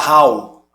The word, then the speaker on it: Raul: O hiato já ia se formar mesmo. Ra-u. Você vai pronunciar Raul. Ra-u. Esse L aí já meio que emprestou uma forcinha para o U sair.